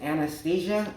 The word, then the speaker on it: Stesia: The last track, according to the cassette and this record, is Stesia, and it's spelled like as if it's a girl's name, not anesthesia, the drug, but that's what he was basing it off of.